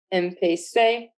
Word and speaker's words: empecé: Additionally, empezar, our zar verb ZAR, changes to say, empecé, again to keep that pronunciation correct.